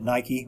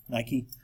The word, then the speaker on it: Nike: By the way, that's how we pronounce it, Nike. We don't pronounce it Nike.